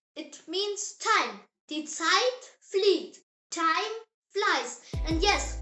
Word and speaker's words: Zeit: So, whenever you see the Z in German, think Ts, not like Z like in English. The example word is Zeit. Say it. Zeit. It means time. Die Zeit flieht.